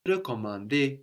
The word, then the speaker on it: recommander: Je vais recommander le bus. So recommander, for example, and réparer, réserver have two different E sounds at the beginning, no? Re or re.